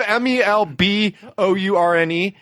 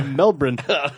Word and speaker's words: Melbourne: from but he misspelled melbourne and instead of m-e-l-b-o-u-r-n-e it was m-e-l-b-r-e-e-n that's closer to the australian pronunciation yeah melbourne melbourne my favorite is the squiggle though because